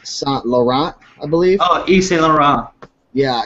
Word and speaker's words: Yves Saint Laurent: Oh, Yves Saint Laurent. Yeah, it's I suck at pronouncing things, but it was a 3-piece suit, navy blue, had the gold buttons.